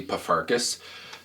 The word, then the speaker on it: Pfarcus: P is pronounced perfectly, Pfarcus.